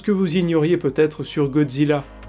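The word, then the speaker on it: ゴジラ: personnage d'un reporter américain en japonais godzilla se prononcent godzilla et il s'agit en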